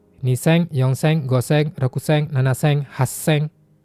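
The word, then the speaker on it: 八千: Niseng, Yongseng, Goseng, Rekuseng, Nanaseng, Haseng. 8.000 haseng ya. Ada su kecilnya kiuseng, dan Ichimang.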